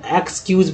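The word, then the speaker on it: excuse: जैसे कि word meaning लेते हैं ई एक्स सी यू एस सी, क्या पढ़ेंगे इसको, तो एक्सक्यूज पढ़ेंगे। क्या पढ़ेंगे, एक्सक्यूज। या मान लीजिए ई एक्स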